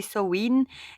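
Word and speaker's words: Samhain: en miroir avec bel sawin prononcé sin est un moment d'ombre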